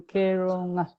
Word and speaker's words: Keronga: that sound, there's a slight difference in terms of how Americans pronounce the N and the G combined compared to how you pronounce it. And we actually, most of us can't actually say that because it's not a sound that we have in our American English.